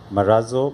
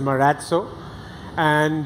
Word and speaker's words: Marazzo: so what's correct so the correct pronunciation is Murad so and as you know the origination of it comes from Basque which is a sub language of Spanish you had a